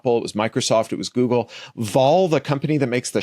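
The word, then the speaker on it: Wahl: the lockdown yeah it's spelled with a W but it's German I did not know it was pronounced V like borrowing animal probably I think it's pronounced V so They they joined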